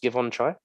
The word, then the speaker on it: Givenchy: in two different ways so Givenchy um is that how you say it yeah um things pronounced give on try he was the so